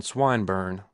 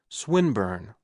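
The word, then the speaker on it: Swinburne: "This man, Swinburn," he began, attempting to put his plan into execution, and pronouncing the I long. "Who, Swinburn?" he repeated with the same misprononunciation. The poet Swinburn, she corrected.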